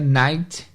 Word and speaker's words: night: Temos a palavra noite, que vocês conhecem, que é night, não tem o GH.